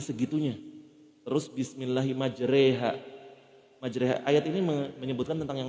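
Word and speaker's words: مجراها: saja yang kita baca Kenapa bacanya majreha bukan majroha di al-quran membaca yang kita biasa baca di Indonesia yang ini ayat ini doang majreha karena ayat ini menceritakan tentang Hai kapal yang berjalan di Gelombang di atas laut namanya gelombang itu pasti miring Hai makanya hukum tajwidnya disebut imalah rada miring makanya bacanya nggak majroha majreha dan banyak kalau mau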